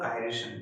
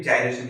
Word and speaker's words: gyration: ठीक है, अब समझते हैं रेडियस ऑफ गायरेशन या फिर जायरेशन जिसको बोलते हैं। प्रोनाउंसिएशन के ऊपर है कि आप क्या प्रोनाउंस करते हैं।